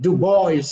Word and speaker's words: Du Bois: this ignorant man called du bois he wouldn't even pronounce his name right which is dubois it is french but he was such